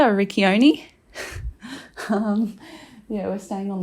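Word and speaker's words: Riccione: Um but yeah, now we're back in uh Richi I think is how you say it or in Australia Rickoni.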